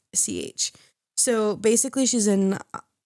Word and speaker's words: Deutch: No, Zoe Douche. It's Deutch. So basically, she's in Not Okay, Buffaloed. I don't know if you've seen that. Zombieland. Yes, it's pronounced Deutsch.